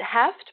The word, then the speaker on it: Hoeft: pronounce your last name not a very phonetic last name right we pronounce it heft but probably originally like